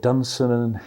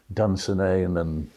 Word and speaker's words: Dunsinane: Who knows, maybe he was inspired by Burnham Wood and Dunsinane, or Dunsinane as I pronounce it, I think correctly, whereas Shakespearean actors tend to say Dunsinane, but I think it's Dunsinane.